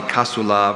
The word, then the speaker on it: casula: The color of the casula varies with either the season or the occasion, being red, for example, on Good Friday.